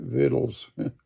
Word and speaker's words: victuals: So the people took victuals, and we pronounce that victuals around here, in their hand and